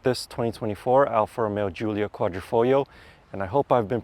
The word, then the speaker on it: Quadrifoglio: 2024 Alfa Romeo Giulia Quadrifoglio, and I hope I've been pronouncing that correctly. Apparently, you're not supposed to say the G on the L at the end.